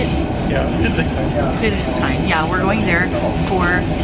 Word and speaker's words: Friedrichshain: Yeah, Friedrichshain.